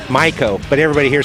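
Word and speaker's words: Maico: Properly pronounced, get this, Miko in German, Miko, but everybody here says Mako.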